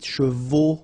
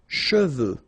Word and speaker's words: cheveux: Usually this one is a bit of a problem because some of the students normally pronounce it chevaux. Okay, so try to keep in mind that you get E-U here.